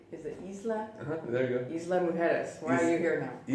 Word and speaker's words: Isla Mujeres: Isla Mujeres. Why are you here now? Isla Mujeres, yeah. Tell us in detail how it all started back in Seattle to where you are now. Sure. So, Isla Mujeres is a small island off of Cancun.